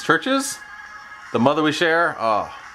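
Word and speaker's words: CHVRCHES: It looks like Chaverches, but I think it's Churches.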